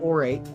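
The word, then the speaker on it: Aur8: so i i say i pronounce my youtube channel orate but i spell it a-u-r like the golden divine light and then ate like infinity but i have an actual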